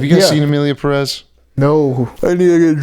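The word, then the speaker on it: Pérez: watch Emilia Perez, because the emphasis is on the first E in Perez, so I believe you pronounce the Perez.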